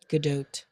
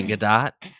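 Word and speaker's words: Gadot: last couple of weeks I learned that you pronounced her last name good do GDOT didn't know that GDOT what did you what were you say gdat gdo oh waiting like waiting for yeah exactly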